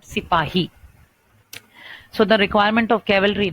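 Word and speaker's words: सिपाही: Sepoy was their way, their style of pronouncing the word, the Hindi word Sipahi.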